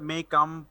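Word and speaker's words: Mein Kampf: Look, মেই ক্যাম্প বা মেইন ক্যাম্প, এটা মনে হয় জার্মান উচ্চারণটা মে ক্যাম্প বা এইরকম একটা উচ্চারণ হবে।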